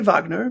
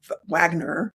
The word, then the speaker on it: Wagner: And so they say Wagner, but when we transliterate it into English, it becomes a W.